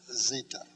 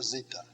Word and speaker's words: zeta: bit down around and that's zita just a z sound z for zeta then after zeeta comes